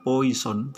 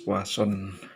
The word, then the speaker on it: Poisson: Tulisannya Poisson, tetapi kita membacanya adalah Poisson.